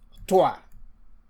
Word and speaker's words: toi: a preceding lesson that when you have O and I, that is pronounced wa. And so that is why we can say moi, which means me, or toi, which is you.